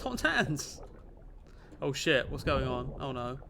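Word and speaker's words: Totentanz: It's not pronounced Tottentas, it's pronounced Tottentans.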